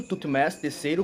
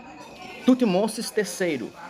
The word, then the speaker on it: Tutmés III: Aqui a gente encontra na tumba do Tutmés, você pode pronunciar tanto Tutmés III como Tutmosis III, tá bom?